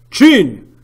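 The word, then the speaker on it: Qin: n and it's pronounced jun like what's below your mouth this is where Zhao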